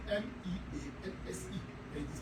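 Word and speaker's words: mesne: It is spelled MEANSE, and it is pronounced mean profit.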